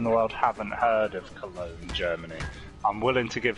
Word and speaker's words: Cologne: Joe, considering most people in the world haven't heard of Cologne, Germany, I'm willing to give him There's a more G, slack. how did he pronounce it, colon?